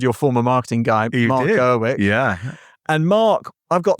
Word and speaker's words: Gaudet: So welcome to the show, Mark and Ed Gaudet, right? Yes. And I'm pronouncing it correctly. It's not Gaudet. No, you can say Gaudet too.